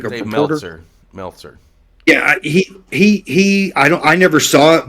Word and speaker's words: Meltzer: Metzler. Like Dave reporter. Meltzer.